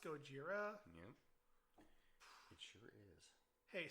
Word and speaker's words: Gojira: I'm sorry. Gojira. Nani. It's pronounced Gojira.